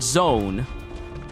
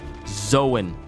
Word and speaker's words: Zoan: Logia is Logia, and Zoan is Zoan. Not zone, Zoan. Because imagine me if I switched it up and started calling them ancient zone types. What? Doesn't even sound right, does it? Zoan makes it more, it just feels natural.